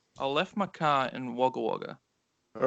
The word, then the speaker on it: Wagga Wagga: left my car in wagga wagga all right now say it like an australian all right i left my car in wagga wagga not bad actually that's